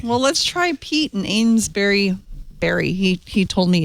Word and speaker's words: Amesbury: Amesbury. Amesbury. Okay, like a berry. But it's spelled like you bury a body. Right, but it's pronounced berry.